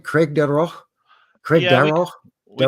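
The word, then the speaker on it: Craigdarroch: Craig Darroch? Craig Yeah, Darroch? we called Darroch? it. That's probably the technical way, Scottish way to say it. We called it Craig Derrick in Craig Derrick.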